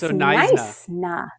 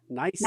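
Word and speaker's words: Knysna: The K is silent. So, it's Nice na. Nice na.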